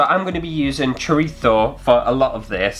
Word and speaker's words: chorizo: Normally I would say chorizo but I know the Spanish pronunciation I think is chorizo, so if I sound like a bit of a knob it's because I'm trying okay!